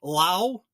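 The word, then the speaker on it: Lowe: Brandon Lau. I said it right. Lau, not Low.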